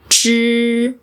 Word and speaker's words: zhī: We pronounce these syllables as So, you can consider these I as silent here. All you have to do is prolong the consonant.